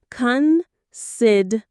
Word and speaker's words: considerate: Considerate. 4 syllables. Considerate. The stress is on the second syllable.